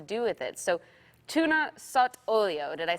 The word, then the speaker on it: sott'olio: So, tuna sott'olio, did I say it properly?